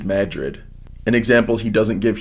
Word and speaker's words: Madrid: Madrid, Iowa is Madrid.